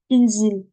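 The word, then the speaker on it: انزل: Je vois que c'est une kasra. Alors, je vais mettre une kasra. C'est inzil, inzil, inzil.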